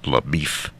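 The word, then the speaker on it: LaBoeuf: Damon portrays Texas Ranger laau which he pronounces Le beef and Josh Brolin is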